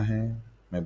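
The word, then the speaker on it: हं: कम 16 बार करना है मैं बीज मंत्र फिर से बता देता हूं ह और ह पे म की बिंदु का अलंकार हम हम हम हम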